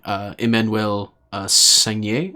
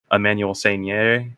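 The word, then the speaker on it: Emmanuelle Seigner: both star co-star really, Emmanuelle Sagnier. I think is how you pronounce that name. It's French. Sounds French to me.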